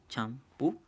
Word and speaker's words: champú: Entonces, estas palabras aquí son muy sencillas de clasificar. ¿Por qué? Porque ya sabemos que la sílaba tónica va a ser la última.